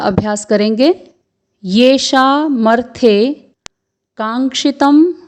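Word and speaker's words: काङ्क्षितं: फिर है कांक्षितम नो, क में आ का स्वर, फिर ङ में हल चिन्ह लगा हुआ है, तो यहाँ पर ङ का उच्चारण अर्धवर्ण के रूप में होगा। फिर है संयुक्त वर्ण क्ष जिसमें ह्रस्व स्वर है, फिर है त जिसके ऊपर अनुस्वार है, तो इसको हम बोलेंगे कांक्षितम नो।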